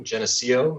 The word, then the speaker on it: Geneseo: that he was at um a suny school geneseo is that how you pronounce it jeff yep yep um where he